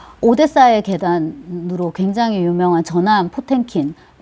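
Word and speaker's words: Потёмкин: 근데 이제 뭐 10월이라든지 그 혁명요, 그 다음에 오데사의 계단으로 굉장히 유명한 전함 포텐킨, 빠쫌킨인데요. 러시아어 발음으로는 전함 포텐킨, 그 수병들이 반란을 일으킨 거예요.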